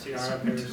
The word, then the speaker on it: Ciara Pares: But today we have Ciara Pares Kempf with us, if I'm pronouncing that correctly.